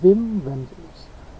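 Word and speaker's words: Wim Wenders: filmed by Vim vendor you pronounce the W like a V so it'll be Vim vendors and it's Paris Texas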